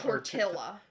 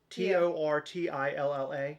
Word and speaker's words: tortilla: that's how you pronounce tortilla t o r t i l l a yes double double L's makes a y noise tortilla Double L makes a